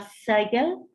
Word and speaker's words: Sigel: Y podemos ver justo en el medio está la letra S que se pronunciaba Sigel y significaba sun, o sea, sol.